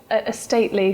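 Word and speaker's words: Estately: again a state lead a stately so it's spelled estate ly well it's stately yeah so e-s-t-a-t-e-l-y yes Property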